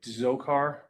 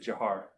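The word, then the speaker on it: Dzhokhar: you saw his name it looks like like zokar but he his family and he pronounced it jiar so I refer to him that way um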